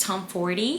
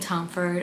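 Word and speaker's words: Tomforde: least Tom 40 actually I learned how to say her last name I've been saying tomford every single time but then I saw Larry from Larry Reeds say it's Tom 40 and then I asked my boyfriend because I'm currently rereading the right move I asked my boyfriend how do you say that last name and he was Tom 40 and it was like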